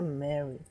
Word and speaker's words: Meari: Em romaji está escrito Mari, e a gente pronuncia Mary.